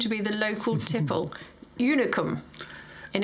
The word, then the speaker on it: Unicum: what we assumed to be the local tipple, unicum, in its weirdly shaped bottle.